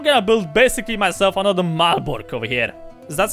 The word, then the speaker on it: Malbork: build basically myself another malbork over here is that's how planets are thinking in english that's how you pronounce it in polish it's malbork the grand castle the